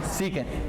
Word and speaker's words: secant: How do you pronounce it? This one? No, the other one, the middle one. Secant.